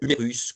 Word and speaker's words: humérus: Et ne pas oublier que dans certains vocabulaires techniques, quand on a un S, on le prononce, on dit euh unérus, cubitus, radius.